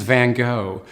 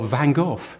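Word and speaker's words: Van Gogh: where you come from the French for example would call him vangog the Americans vano and in England we've settled for vanov but he was Dutch and I've spent hours with Dutch people trying to get this right it's something like Von h but it's not that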